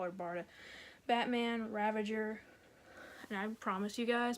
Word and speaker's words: Ravager: call her Barda Batman Ravager and I promise you guys before they end this video I'm going to mispronounce her name and say Ravinder cuz I always put an N in her name I don't know why